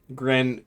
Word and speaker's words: Greenwich: Gren. Greenwich. That's it. Greenwich. No W. So the second E and the W are both silent.